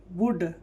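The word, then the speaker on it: would: डब्ल्यू ओ यू एल डी क्या हो जाएगा, वुड।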